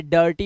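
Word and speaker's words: dirty: आर बहुत खतरनाक है देखो आई के बाद आ रहा है तो यह र्टी नहीं है ये डर्टी हो गया अब डर्टी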